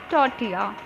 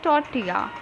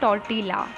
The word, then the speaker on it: tortilla: Remember, its correct pronunciation is menu. Menu. The restaurant serves an all-day breakfast menu. Here the word is tortilla. Remember, it's tortilla, not tortilla.